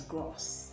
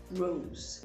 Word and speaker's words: gross: or to increase while gross sometimes erroneously pronounced as grass no it is rose rose could mean shameful